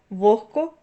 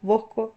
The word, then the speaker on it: вогко: як кігті нігті легко вогко дьохтю Ви чуєте що я вимовляю х а не г хоча ми пишемо в цих словах г ось транскрипція цих слів кігті нігті легко вогко тьогтю також похідні нігтьовий